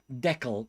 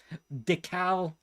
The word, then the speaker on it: decal: Decal is pronounced like Deck the Halls. Deckel. No, I believe it's Decalberg this. And the reason why I say that, because I understand it comes from the word decal. It's a French word it comes from. And it starts it starts D. Deca. I can't remember the word. Because I was looking it up trying to sign. But apparently both pronunciations are acceptable.